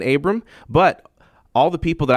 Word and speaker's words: Abram: often do you get Abrams with the S like all the time all the time so yeah so but it is Abram without the S if you see him